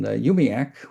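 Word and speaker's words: UUMUAC: And we in in Yumi, which is the way we pronounce our long our long acronym, u Muac, or some of us pronounce it, excuse me, I pronounce it that way.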